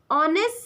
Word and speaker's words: honest: So we use N before these words because of H is silent in these words.